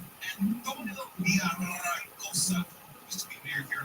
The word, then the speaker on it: Villaraigosa: Roll your R's. Roll it right. Antonio Villaraigosa used to be mayor here in Los Angeles.